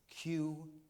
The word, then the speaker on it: Qi: Qi cheese is how it's pronounced.